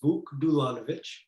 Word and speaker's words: Vuk Dulanovic: uh yeah definitely hi everybody my name is buck dulanovich so you were close um and i you